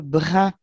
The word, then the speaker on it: brun: Et on va dire il a les cheveux bruns, hmm. bruns comme un brin d'herbe. Alors que Ouais. ça s'écrit pas pareil.